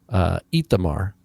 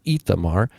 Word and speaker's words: Ithamar: Ithamar. They start that now. It starts with an aleph in Hebrew, but it is vocalized with a hirik yod, Ithamar, and in the Septuagint it's spelled with a yoda.